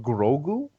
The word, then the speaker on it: Grogu: i'd like it but grogu why the g at the beginning that's his name it's two syllables it's bang bang it's easy imagine being